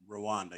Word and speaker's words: Rwanda: Is that how you pronounce that? Rwanda, yes.